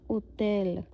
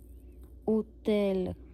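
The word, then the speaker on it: hôtel: है ओ के ऊपर फिर हम इसको एच को नहीं फिर से करेंगे प्रोनाउंस तो ये क्या रह जाएगा उतेल उतेल अब आप साथ-साथ में बोल के जरूर देखना।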